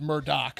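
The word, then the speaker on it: Murdaugh: murder yeah it's also spelled murder but it's pronounced Murdoch so it's Alex and then Murdoch with the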